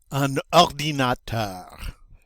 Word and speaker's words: un ordinateur: Again, this one starts with a vowel. So we're going to pronounce that not un, but un. Un ordinateur. Oui. Remember, that ends with an R. So we are going to, we are going to pronounce it with that guttural sound.